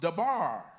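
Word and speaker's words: דָּבָר: And in the Hebrew form of that, the word is pronounced dabar.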